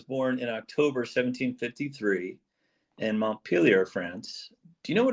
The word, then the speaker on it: Montpellier: All right, and thank you for pronouncing Montpellier properly for me. I'm used to the American version, up in New England there, Montpelier.